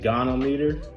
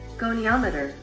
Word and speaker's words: goniometer: It's a gonometer. Jesus. Pronunciation. Goniometer.